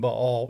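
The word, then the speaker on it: Baal: of B all and U when we're saying B all is b a a l that's how it's pronounced actually judges 106 another God was the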